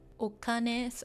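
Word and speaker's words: お金: So right now, yeah, this is pronounced okane.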